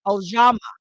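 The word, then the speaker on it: Ujamaa: Now we're on the fourth uh, principle, which is cooperative economics, and it's pronounced Ojama. Ojama is the principle of cooperative economics.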